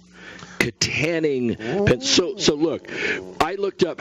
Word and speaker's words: Kittanning: by the way yes according to the pronunciation guide it's Kittanning Kittanning so look I looked